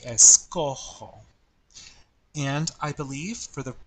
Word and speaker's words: escojo: So, for example, with the verb escoger, if I were to change that er to follow the normal pattern and have an o, it would be s, it would be like that, but how is that pronounced? Escogo, escogo, right? And that changes the pronunciation of the original G. So Spanish is very consistent with pronunciation. That's why in the yo form only, that G will change to a J. So it would be escojo.